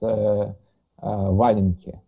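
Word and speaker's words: валенки: It's pronounced Valenki.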